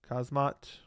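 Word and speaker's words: Khamzat: Hamzot's name is pronounced Kazmat.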